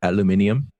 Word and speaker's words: aluminium: And also, I believe it's pronounced aluminium.